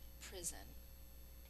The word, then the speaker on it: prison: An S is saying its second sound in prison, so we will mark that.